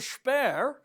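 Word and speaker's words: Shpare: a bidding war what's the name spare spare by the way that's actually how it's pronounced it's not his accent it's got an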